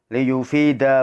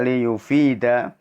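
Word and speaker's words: ليفيد: tablughuna ma tu'ammiluna minhu liyufida ba'dukum ba'da. Maaf, di sini membacanya liyufida bukan liyufid, fi-nya panjang, ini salah ketik ya.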